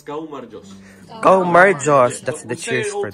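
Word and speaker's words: გაუმარჯოს: But everyone tries to say it, but no one is it because most of the words are hard to pronounce. It's gaumarjos.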